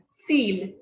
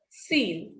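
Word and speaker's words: cil: Pronunciation is seal. So this is avec, this is nuff, this is seal. So whenever a word ends with C, F, or L, it is pronounced completely.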